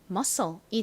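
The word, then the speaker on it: muscle: 둘이 합쳐서 쌍시옷 소리가납니다 읽어 보면은 미음 소리 유는 어 그리고 SC n 무슨 소리 난다고요 쌍시 소리 나고요 리 바로 뒤에 붙으니까서 이렇게 발음이 되죠 가장 끝에 2는 떨어집니다 그래서이 단어를 읽어 보면 musle이 되죠 여러분 머의 의미가 뭐라고요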